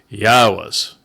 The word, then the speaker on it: Yahweh: and completely observe Shamar, Yahweh's. This is Yahweh's name as an accurate presentation of how it should be pronounced based upon Eloah, God, through his Torah instructions regarding his Haya existence.